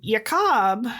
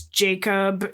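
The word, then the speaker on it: Jakob: And Yakob and and I'm pronouncing his name in the German the way they would have pronounced it. It's Jacob in our English telling, but it's Yakob Grim in German.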